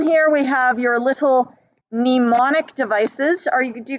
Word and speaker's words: mnemonic: we have your little mnemonic devices are you do you guys know the word mnemonic mnemonic is to do with memory it's got a silent m at the beginning because of course we